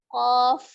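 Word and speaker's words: ق: lagi di sampingnya lagi ada huruf qaf Jadi bukan kop tapi ya huruf Fa yang disukunkan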